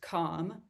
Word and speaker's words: comm: And this is usually pronounced comm because it denotes communication between two parties.